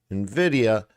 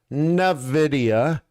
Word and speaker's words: Nvidia: wants to come down nid not Nvidia say it right Nvidia cool uh down okay